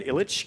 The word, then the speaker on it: Ilic: I've anglicised my name. So Dan Ilic is kind of how I've been saying it. But this year I've decided to go by the way I meant to say it, Dan Ilic, because old men in